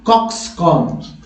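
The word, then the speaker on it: coxcomb: अब देखिए कॉक्सकॉम, कॉक्सकॉम, कॉम्ब नहीं, कॉम, कॉम, क्योंकि बी को यहाँ साइलेंट रखा जाता है।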